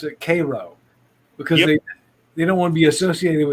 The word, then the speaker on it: Cairo: down there pronounce it cairo because they they don't want to be associated with egypt yeah no it they they pronounce it the same way they do the syrup yep karo syrup but it's spelled it's